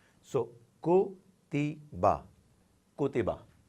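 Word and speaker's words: كُتِبَ: So ko, ti, ba, kutiba, kutiba. As we know that ordinarily no word can be pronounced without a vowel.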